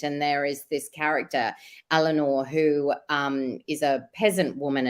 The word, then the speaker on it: Eleanor: And then can I just ask, was it, the pronunciation is Eleanor? Eleanor.